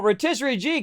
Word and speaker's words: Rotisserie G: Rotisserie G coming in. MVP. See, Rotisserie G rhymes with MVP.